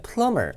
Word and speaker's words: plumber: 이 A번에 plumber, 그 B는 묵음이에요.